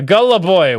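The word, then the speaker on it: голубой: on for five dollars blue in Russian is pronounced uh Gullah boy which also means gay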